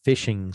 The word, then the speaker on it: phishing: it those are called phishing schemes and fishing is spelled with a ph ph and it's like fishing you know so that's